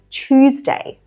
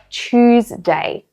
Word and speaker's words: Tuesday: Instead of Tuesday and pronouncing it with a T, we have this sound, ch. So we say Tuesday, Tuesday.